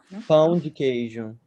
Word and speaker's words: pão de queijo: Yeah, that is How this to pronounce it correctly? cheese bread. It's like No, the in pão de Portuguese. queijo. pão de queijo, Pão de de queijo.